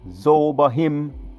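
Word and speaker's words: Zeboiim: Those other cities, let me go again for pronunciations. Admah, Zebohim, and Zohar, Bela. Zohar, Bela, that's 1 city. Zohar, Bela is 1 city. Admah, Zebohim, Sodom and Gomorrah, that's 5 altogether.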